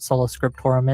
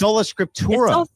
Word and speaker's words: Sola Scriptura: I think the fact that you lied about what Sola Scriptorum is, and your counter to me is, oh, you mispronounced it once.